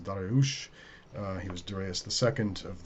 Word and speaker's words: Darius: So the Persian Shanashah, the great king Darius the Great, and I should say Darius is what the Greeks called him. You can call him Darius if you want to. More correctly, his name is pronounced Dariush.